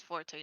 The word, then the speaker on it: Forte: i killed it cool your name is forte not the other one syllable thing i don't know where